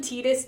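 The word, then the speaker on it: Tidus: The game actually follows Titus. You can call him Tetus, too, cuz technically in in Japanese it's Tetus, not Titus.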